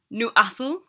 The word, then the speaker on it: Newcastle: cool to say um when you say Newcastle I don't ever don't ever pronounce really the whole word we always say n assel new assel is how you say it um and yeah we